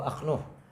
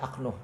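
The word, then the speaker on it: أخنوخ: Wasmuhu Akhnuh, namanya Akhnuh. Nama Nabi Idris nama lainnya Akhnuh, bi fathil hamzati, dengan fathahnya hamzah, wa sukunil kha. Au Khanuh, ada juga ya Khanuh yang bacanya bi fathil kha, ma hadfil hamzah, dibuang hamzahnya. Ada yang menyebutkan nama aslinya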